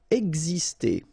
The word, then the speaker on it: exister: Exister. Okay, so it's really this X here, it's pronounced like X, X, exister.